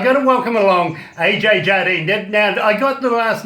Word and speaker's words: Jardine: I've got to welcome along Ajaye Jardine.